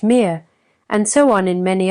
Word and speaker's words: Mutter: In German, Vater, pronounced Vater, and Mutter, pronounced Mir, and so on in many other languages.